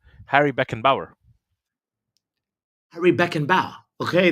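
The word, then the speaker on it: Beckenbauer: again beckan ball I think that's how you pronounce his last I learned it from uh my buddy uh fellow YouTuber s Harry Beck and Bower Harry Beck and bow okay there we go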